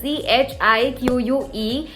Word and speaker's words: Chic: It's pronounced as CHIQUE and it's obviously not sponsored, but I just love this brand.